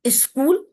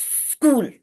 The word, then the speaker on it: school: And then, if you do not know about these pronunciation, school will become is school. There are still a large section of society which say is school. It is school, smart.